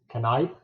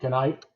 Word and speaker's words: Knipe: And Dennis is the co-author along with Jeff, and I'll probably pronounce this wrong, Knipe? That's correct. Okay, Knipe.